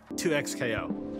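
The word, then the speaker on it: 2XKO: internet R's official channels clarified how to pronounce it 2x KO yeah it's kind of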